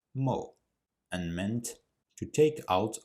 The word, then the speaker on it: 没: It was pronounced mo.